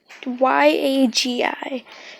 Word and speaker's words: Yagi: I'm pretty sure that's how you say it. It's Yagi.